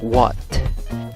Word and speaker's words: what: Hay 2 opciones, 2 formas de pronunciarla. La primera es what. La A con esos 2 puntitos arriba es una A gruesa. Se pronuncia A.